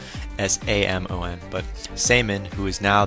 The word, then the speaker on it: Samon: just easier to remember, but his name is Samon, S-A-M-O-N. But Samon, who is now the new leader of the Kasarabi clan, technically, he's talking about they're protected, they're in this barrier, so Natsumore and Samon are protected, so Yoshino and Muaharu can't find them.